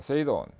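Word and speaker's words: 整頓: 일본에서 생겼기 때문에 OS로 발음되는데, 일본 발음을 통해서 OS를 보면 정리는 세이리, 정돈, 세이돈, 청소, 세이소, 청결, 세이게츠, 그 다음에 습관화, 시적게 해서 5가지 OS 이렇게 됩니다.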